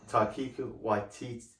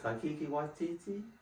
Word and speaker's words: Taika Waititi: Taika Waititi, I think that's how you say his name. Taika Waititi?